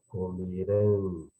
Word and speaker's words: comerão: Comerão, né? Tonicidade forte, oxítona na última sílaba, né? Comeram, comerão, ou seja, a tonicidade é na segunda, na penúltima sílaba, portanto é paroxítona. Portanto, o forte é segunda